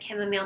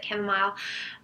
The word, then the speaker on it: chamomile: not Kim a mild some people pronounce it came home awesome people pronounce at chamomile my herbalist pronounces it Kim mile um is it's a